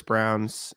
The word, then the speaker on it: Braun: It's spelled Braun. So I know. I was like double confused. It is Brown, though, I think.